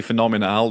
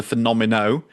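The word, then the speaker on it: Fenomeno: Not the phenomenal. Your brain wants to say phenomenal. This is the Phenomeno. F E N O M E N O. That's why I can pronounce it first time around.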